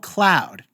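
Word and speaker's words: Khloud: It's called Cloud. And Cloud is spelled with a KH like Khloe's first name is because Chris Jenner owns the trademark on the letter K, by the way.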